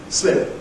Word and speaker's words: slip: Okay, they sound different. Sleep, slip.